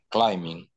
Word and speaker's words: climbing: Climbing. Excellent, Morris. Very good. Excellent. Repeat, please. Climbing. Excellent, Morris. Letter B? No, we don't pronounce it. So we say climbing.